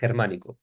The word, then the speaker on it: Germánico: mixed with the Germanicus, the Roman general, that in Spanish is pronounced Germánico.